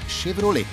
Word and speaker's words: Chevrolet: stranezza dell'origine del nome chevrolet che si legge alla francese con l'ac che iniziale che si pronuncia come se fosse scelto perché fu proprio